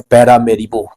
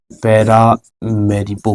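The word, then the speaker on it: Paramaribo: Suriname दक्षिण अमेरिकी देश है और दक्षिण अमेरिका महाद्वीप है भाई, और इसकी राजधानी है पैरामेरिबो। पैरामेरिबो है ना, उच्चारण थोड़ा अलग हो सकता है, पैरामेरिबो।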